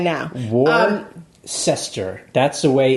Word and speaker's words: Worcester: Like, is Western Mass everything west of Worcester? People from Massachusetts are laughing at Jay right now. Worcester. That's the way it's pronounced.